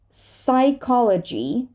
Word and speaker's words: psychology: So we have a silent P in the following words. Pneumonia, right? An inflammation of the lungs. Pneumonia. Pseudo. Psychology, not P, right?